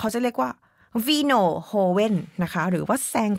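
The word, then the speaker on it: joven: เคลียร์ น ส า ร ค ก่อ สร้าง สะกด คือ c r i a n z a นะ คะ ส่วน โฮเวน มา กิน อ้า ขอ ย้อน กลับ ไป คือ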